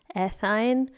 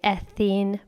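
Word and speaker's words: ethyne: I studied in the United States, so I have heard methine, butine, ethine, but I'm currently teaching in Europe, and a lot of teachers here will still say ethene, butene. But to me, that's a little bit confusing because we have E-N-E here, and the way you pronounce that is definitely ethene, methane, butene. So I like to distinguish between the two using the ine sound, and also that's what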